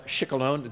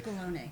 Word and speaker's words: Scicolone: Michelle Shikolone. Do I have I pronounced it correctly? Chickalone. Chickalone. Oh, we got the e in the end.